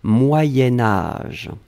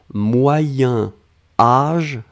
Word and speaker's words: moyen âge: alors moyens moyens4 sion quand on va le blier avec âge on va faire ce petit modification de prononciation on va dire moyenne moyen-âge d'un c'est pour ça que vous avez peut-être entendu moyenne mais en fait on écrit moyen moyen âge va être prononcée moyen-âge d'accord allez ce troisième chose